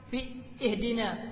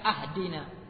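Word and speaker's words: اهدنا: dibaca anamtu au Fathi Alif ihdina dibaca ahdina aku yang memberi petunjuk kami itu salah itu adalah fatal kerusakannya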